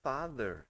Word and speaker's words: father: E o outro, por exemplo, né, a palavra father. Yes, né? Father, the. Vocês podem ver que essa outra pronúncia é de the, né?